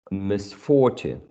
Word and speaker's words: misfortune: Misfortune.